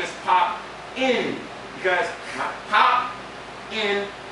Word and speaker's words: Popping: the G it's not pop my name is pop in because pop in P not pop in PE so that's that's how you really pronounce it's called pop and PE so uh